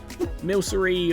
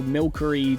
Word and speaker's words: Milcery: Milcery, or Milkery, depending on how you say it, turns into strawberry milk.